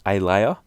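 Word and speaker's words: Ahlaya: I think it's pronounced Alaya, something like that. It's an Arabic word which means family.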